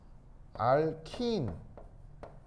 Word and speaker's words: 알킨: 알킨. 알켄은 친일파 발음이라고 했죠. 알킨 알겠죠?